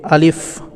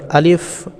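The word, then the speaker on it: ألف: পাচ্ছেন আলিফ আলিফ এইটা আমরা অনেকে ভুল করে পড়ি আলিফ তো এটা আসলে আলিফ হবে না লাস্টে ফ উচ্চারণ হবে এই যে দেখতে পাচ্ছেন এখানে এই যে লাস্টের লেখাটা দেখুন এখানে আলিফ লাস্টে ফ লেখা আছে তো এটা আমরা পড়ার সময় দ্রুত গটিতে আলিফ কোন টান ছাড়াই আলিফ লাস্টে আমরা ফ উচ্চারণ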